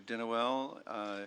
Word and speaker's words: Dinowell: Dinowell, if I've said your name correctly, congratulate me, and if I said it wrong, correct me.